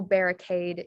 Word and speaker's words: barricade: or aid um so this example barricade is um pronounced aid crusade is pronounced